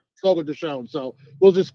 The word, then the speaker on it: Fogo de Chão: pronounced Fogo de Chão.